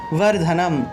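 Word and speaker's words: বর্ধনম্: সুগন্ধিম পুষ্টি বর্ধনম, সুগন্ধিম পুষ্টি বর্ধনম, অনুস্বার থাকায় ম উচ্চারণ, ঠিক আছে। এখানে একটা অনুস্বার থাকায় এখানে ম উচ্চারিত হবে, অনুস্বারের পরিবর্তে ম উচ্চারিত হবে, বর্ধনম।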